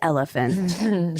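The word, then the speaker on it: Oliphant: I when I was first researching this was trying to find cases rooted in the legal loophole around the Olivant decision which essentially dictates it's pronounced elephant.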